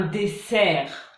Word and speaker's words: dessert: Donc par exemple, un désert, un dessert.